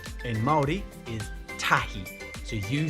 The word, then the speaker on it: tahi: Number 1 in Māori is tahi.